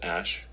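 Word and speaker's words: Æ: x um and then the AE is like pronounced Ash uh yeah and then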